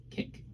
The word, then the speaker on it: Kik: If you guys don't know how it's spelled, it's K-I-K. Kick.